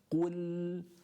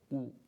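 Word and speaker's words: قل: So you're already here, qul, and that's your starting point. Starting point is here, and you need to pronounce the dhamma and the qaf at the same time.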